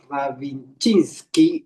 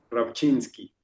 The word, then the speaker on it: Rabchinskey: Eres Ilán, a ver si a pronunciar bien el aprecido. Es Ilan Ravinchinski. Está bien. Ravinchi. Bastante bien. Bastante bien. ¿Cómo se pronunciaría correctamente? Rapchinski.